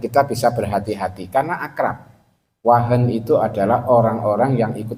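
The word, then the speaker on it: وهن: susah P jama sekalian wau ha Nun Wah Nun bacanya wahen Ya kalau kita nak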